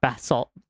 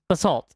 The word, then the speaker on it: basalt: polished polished basalt but nope bat not bath salt basalt there we go i'll pronounce it that way so where the